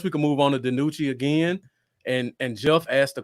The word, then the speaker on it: DiNucci: DiNucci. Yeah. DiNucci.